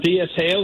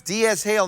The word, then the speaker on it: DS Hale: I'm DS Hale in the chat room. All right, DS Hale. You're there all the time. I recognize you. So it's DS Hale, not D Shale.